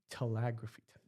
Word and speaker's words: telegraphy: Telegraphy? Telegraphy. It's telegraphy. Telegraphy. Okay, thank Yep. you. Yeah. Like And telephone. Telephone. Telegraphy. No, you're adding another syllable.